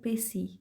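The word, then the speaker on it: précis: writing so the word Pacey is a French word and when I spell it PR EC is what the letter S is silent in this word so pronunciation of the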